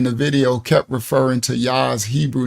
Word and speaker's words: Jah: and explained to him there was no J in ancient Hebrew so it would be pronounced yah I I um sister